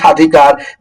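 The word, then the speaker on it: স্বাধিকার: যেমন কি যদি বলি সাধিকার সাধিকারে এখানে বফলার কোন উচ্চারণ হচ্ছে না।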